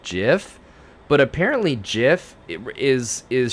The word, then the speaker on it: GIF: anyway they're like um it's actually uh jiff if you're gonna use the type of image then you need to say it correctly or else he's rolling